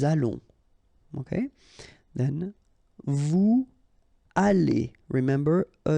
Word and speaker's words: allons: Nous allons, remember final S not pronounced. O and together it's on, and then we'll make this little link between the two, what we call the liaison, nous allons.